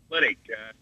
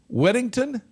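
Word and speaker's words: Liddick: Lydick. Weddington? Lydick. Spell it.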